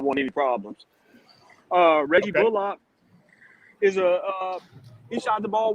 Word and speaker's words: Bullock: He's made it known that he wants to be called Bullock.